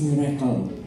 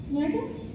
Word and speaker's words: Mirekel: It's Mirekel. How do you spell that? M-I-R-E-K-E-L.